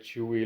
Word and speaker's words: Chuwi: Today we're doing an unboxing of a Chuwi tablet, or I think this is how it's pronounced.